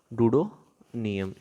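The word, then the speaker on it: Duodenum: क्या प्रोनाउंस करेंगे हम इसको, डूडोनियम।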